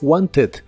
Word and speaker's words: wanted: Lo puedes pronunciar como se escribe con una E suave casi al final. Wanted, wanted. O en inglés americano es muy común pronunciarlo sin la T y suena como wanted, wanted.